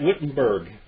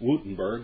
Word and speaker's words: Wittenberg: Demagogue, Menzer served briefly with Luther at Wittenberg. It's actually Wittenberg, but it's Wittenberg. That's the way we still have the pronunciation.